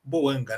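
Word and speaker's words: Bouanga: Já oáio Boangáim Boanga, né? é a pronúncia que ficou eh normalizada e boando.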